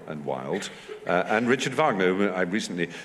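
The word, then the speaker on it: Wagner: whereas we would give it at least two syllables oh so that was her tip so it's that generosity of vow yeah um Vagner Vagner go on no no Vagner the Wales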